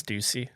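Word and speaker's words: Stüssy: clip this that's cool and then TX Stuy Stussy I never knew how to say it I think it's Stuy is it Stuy yep s t u SS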